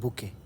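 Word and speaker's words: bouquet: हम खाने लगता हैं बुके ध्यान रखना टी साइलेंट होता है यहां पर हम लेकर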